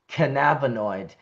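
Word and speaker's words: cannabinoid: So I do try to consciously say canabonoid like cannabis uh the way Dr. David Allen has uh taught me.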